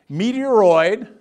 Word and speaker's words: meteoroid: goes well it's easy meteoroid rhymes with asteroid all right so those